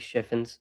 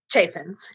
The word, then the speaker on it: Chaffins: 17th, I reinvited Alise Shiffens. Uh, I always get that your last name wrong. Chaffens, right? Chaffens. Yep.